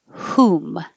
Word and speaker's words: whom: Hi, we just finished meeting for pronunciation practice on Tuesday, March 21st, and we started with whom. So, some WH words you don't hear the H at all, you only hear the W, and this one you only hear the H.